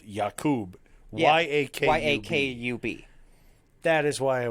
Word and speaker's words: Yakub: essentially oh okay it's not spelled like jacob it's spelled yakub y-a-k-a-k-u-b that is why i was confused because